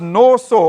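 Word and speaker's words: נסה: says to test them it's a word pronounced nor saw or a primitive root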